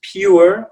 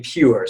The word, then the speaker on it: pure: And so, for example, depending on where you're from, you might pronounce this pure or poor. Usually it's going to be pure, so it's going to be a triphthong, okay?